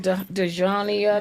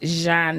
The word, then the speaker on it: Djhona: Everybody be like, Deania, Dean, like one time. It's pronounced Jean and so and actually it's French and it has an apostrophe.